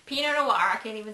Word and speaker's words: Pinot Noir: out this wine um I've gotten to like Pinot Noir recently because it's a very easy drinking wine